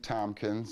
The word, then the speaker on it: Thompkins: i just need you to say it and spell it for me sure i'm sure no one messes it up tomkins and that's t-h-o-m-p-k-i-n-s nickname that i picked up